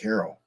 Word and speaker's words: Cairo: I don't know if I've actually been there, but I think it's pronounced Cairo, to be honest with you.